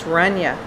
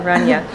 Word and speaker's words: Renya: when you're working here Rayna um prep in the morning or sorry I said your name wrong you know it's renya that's right I think it's important